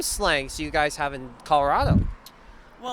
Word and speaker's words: Colorado: somebody says Colorado, you can tell that they're not from Colorado. Because you got to put the rad in Colorado.